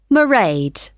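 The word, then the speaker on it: Mairead: see my assistant merade sorry how do you spell that it's m a i r e a d marade okay got that it's not a name i'm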